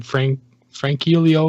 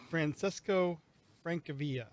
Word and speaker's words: Francesco Francavilla: This is the I can't remember how to pronounce this guy's name. Francilio or something like that. Francesco Francavilla.